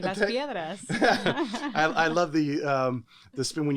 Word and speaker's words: Las Piedras: She hails from in Las Piedras, Puerto Rico. Did I pronounce that correct?